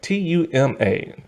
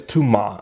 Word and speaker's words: Tuma: that is his name t-u-m-a tuma um but they say it like tumor but it's too ma and everything and he's